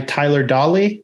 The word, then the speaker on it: Tyler Dawley: Today, we're joined by Tyler Dawley. Did I pronounce that right, Tyler?